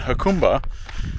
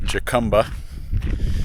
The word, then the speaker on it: Jacumba: my way back so in hakuma that's the proper pronunciation not jacumba as I found out